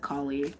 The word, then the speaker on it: Kali: I pronounce it Kali. People pronounce it differently.